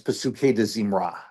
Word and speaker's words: Pesukei de Zimra: And then before you get to, a call to worship in the morning, you have what's known as Pesukei de Zimra. Pesukei, I would spell that P-S-U-K-E-I, and then de Zimra, D''Zimrah.